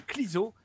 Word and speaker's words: Clueso: Voilà, ça s'écrit Clueso, mais ça se dit Clizo.